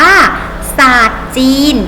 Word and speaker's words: สารท: คำ นี้ อ่าน ว่า สารท จีน เห็น ไหม คะ มี ตัว รอ แต่ ไม่ ออก เสียง พยัญชนะ รอ นะ คะ 2 อาทร ตาก